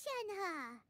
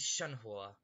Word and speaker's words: Shenhe: different because like i the way i pronounce it is shanhua because that's that's how they pronounce it in like some voice lines but i swear they pronounce it differently it's like sometimes it's shangha sometimes it's shen hey it's just it just changes every time and it's really confusing